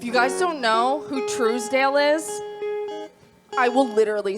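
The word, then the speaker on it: Trousdale: up-and-coming band if you guys don't know who Truesdale is I will literally spell it for you on Spotify t-r-o-u-s-d-a-l-e-d-a-l-e truce Dale TR yeah it's so good this song is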